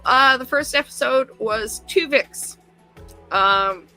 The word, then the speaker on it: Twovix: the first episode was two vix um not spelled with t u v i x but uh t two as in two the number two chicks uh Anson boimler learns